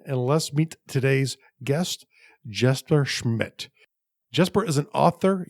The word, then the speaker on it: Jesper: Yeah, well, for me it's Jesper. But, Jesper, yeah, that's usually how the English speakers say it.